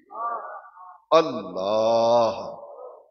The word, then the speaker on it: اللہ: کا اسم ذات ہے، اس میں اللہ آخر میں ہے کی آواز آنی چاہیے، اللہ صرف کہنا یہ صحیح تلفظ نہیں، اللہ یہ اسم ذات